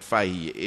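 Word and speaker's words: Fahie: Kitts of Mitcham and Fahy is pronounced up there, but we will call it Fahy, F-A-H-I-E.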